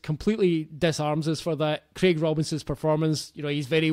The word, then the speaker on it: Craig Robinson: He's Craig. American, so it's Craig Robinson.